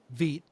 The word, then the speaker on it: Vite: Uh, it's about Vit, which vi is like the French pronunciation like uh what is that?